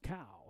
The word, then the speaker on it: Cao: number 13 Matthew Cole cow pronounced cow c CAO cow from Albuquerque senior 200